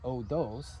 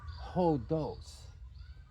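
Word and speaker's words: ὡς: bit now this isn't oos it is hos so when the Mark is going this direction it's called a rough breathing Mark and you just add the letter H so in English this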